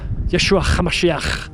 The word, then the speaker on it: Yeshua: Yeshua with a sound. You have to add a little bit of a throaty little. That's Aramaic. That's what it sounds like, folks.